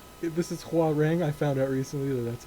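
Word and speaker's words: Hwoarang: am I for saying how wrong this is Hua ring I found out recently that that's how you pronounce it apparently even though in some of the games they say how wrong I think yeah oh speaking of that yo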